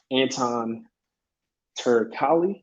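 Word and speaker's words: Anton Turkalj: Next, Tyson Pedro versus Anton Turkali. That's how you pronounce his name.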